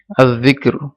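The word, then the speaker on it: الذكر: জাল আয-যিকর, আর যিকরি দেখা যাচ্ছে লাম উচ্চারিত হয়নি, তাহলে এটা শামসি হুরুফ।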